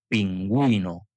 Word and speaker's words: pingüino: La u normalmente no se pronuncia como en guitarra, pero si lleva diéresis wi, entonces sí se pronuncia pingüino.